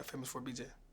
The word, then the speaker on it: FAMOUS4BJ: It's famous with a number 4, BJ. Yeah, FAMOUS4BJ.